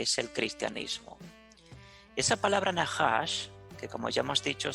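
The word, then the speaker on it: נחש: Así se pronuncia serpiente en el hebreo, Nahash.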